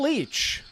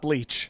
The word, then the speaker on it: Leach: Leach. Each or Leach? It's Leach.